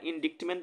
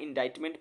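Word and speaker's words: indictment: एनटी ठीक है देखो आपको इसका स्पेलिंग याद रखना इंडिक्टमेंट मत पढ़ना इंडा इट मेंट पढ़ना अब याद कैसे रखेंगे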